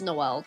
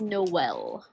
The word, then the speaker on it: Noelle: But anyway, some people think my name is Noel, because it is spelled in a way that Null is spelled, but it is Noelle. Like no and well.